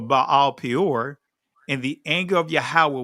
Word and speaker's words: Baal Peor: And Israel joined himself into Baal Pa'awar, or that's the ancient pronunciation of it, but Baal Peor, and the anger of Yahweh was kindled against Israel.